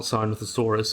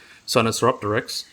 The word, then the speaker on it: Sinosauropteryx: It was not Sinosauropteryx, it was Sinosauropteryx.